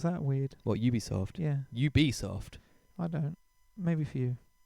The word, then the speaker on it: Ubisoft: the safety line with all of their stuff ubisoft yeah that's how you say it as well isn't it ubisoft ubisoft yeah it's weird some people pronounce that weird well ubisoft yeah you be soft i don't maybe for you my feelings nice